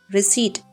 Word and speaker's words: receipt: Receipt the P is silent.